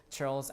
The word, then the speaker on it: churls: Churls are, this is like pronounced like a CH, churls.